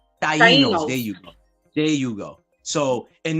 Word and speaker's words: Taínos: Is that, I keep messing it up, the pronunciation. Taínos.